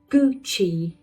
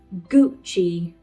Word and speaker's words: Gucci: Gucci. You see two syllables. The first one like gui. Gucci.